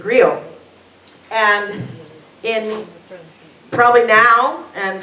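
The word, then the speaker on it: griot: i o t and I think you pronounce it GRE and in probably now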